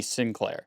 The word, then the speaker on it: St. Clair: So they would used to say like St. Clair would be Sinclair.